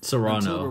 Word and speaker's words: Serrano: Serrano, that's how you pronounce it. I've always thought of it as Sorno.